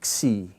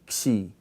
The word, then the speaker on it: xi: It was a kappa and a sigma put together, and they pronounced it x, x, right?